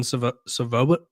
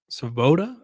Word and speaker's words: Svoboda: And I think it's tough because Wyoming has the ultimate Wildcat quarterback, Evan Savoba. Oh, excuse me. Svoboda, I believe is how you say it.